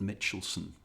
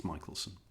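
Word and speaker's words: Michelson: by the name of Albert Mitchelson or Michaelelsson, I'm never quite sure how to pronounce it. I think it's Michaelelsson.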